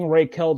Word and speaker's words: Raquel: a star shirt shout out for that we're pronouncing rayquel the right way well we like raquel i